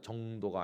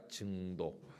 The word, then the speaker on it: 증도: 여기 경상도 분들은 음악 이걸 못해가지고 엄악 이렇게 하던데 발음이 증도입니다. 정도가 아니고 증도. 한번 해보세요. 잘 됩니까? 증도.